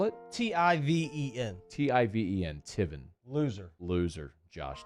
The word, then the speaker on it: Tiven: fields loser what's his name again josh tivan spell it t-i-v-e-n t-i-v-e-n tiven loser loser josh tiffen you are